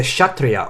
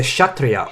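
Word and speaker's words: kshatriya: fundamentally arjuna is a shatria or warrior his role in society is to stop sorry hold on shut three uh okay k was silent i wanna hear i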